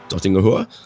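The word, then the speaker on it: Döttinger Höhe: Dottingahua. See, it's got dots over the O's that you got to pronounce.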